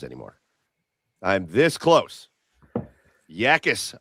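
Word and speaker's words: Jacas: Yakis, I said it wrong the first time. You corrected me.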